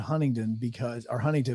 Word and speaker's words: Huntingdon: You pronounce it Huntington because it's down.